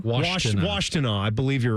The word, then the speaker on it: Washtenaw: I still don't know how to pronounce it. Just reading it. Yeah, what is it called again? I believe it's Washtenaw. Washtenaw.